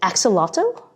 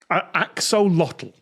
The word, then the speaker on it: axolotl: And perhaps they use a chemical or a substance that's released by, is it axolotl? Is that how you pronounce it? Axolotl? Axolotl.